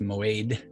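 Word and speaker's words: מועד: this is h4150 and it is spelled moed but it is pronounced moad properly it is an appointment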